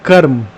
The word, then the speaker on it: कर्म: तो कर्म को कर्मा क्यों, योग को योगा क्यों? भाई योग कर्म, ठीक है, तो जो सही उच्चारण है वो हमेशा हमें करना चाहिए, पहली बात।